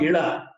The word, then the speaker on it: Ila: His daughter's name was Ila. Ila is spelled as E-L-A or I-L-A.